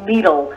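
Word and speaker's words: Lidl: years uh there is preparation to build a needle i'm gonna spell that for all of you people in radio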